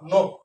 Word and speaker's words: নখ: তাহলে এই নটা অ আছে, অটা যাবে ও হয়ে নো। আর এই ক্ষীয় খটা ক যোগ খ হবে, ক এর সাথে খ, নখ।